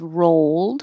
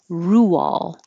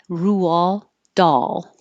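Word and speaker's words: Roald Dahl: last week's and I didn't know how to pronounce it so my guess was rolled because it looks like road with an l and I looked it up after the Meetup and found out that it is Rule Rule doll so the doll part was right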